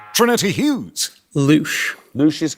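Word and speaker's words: louche: The word in question rhymes with the French words for shower, fly and mouth. Trinity Hughes. Loosh.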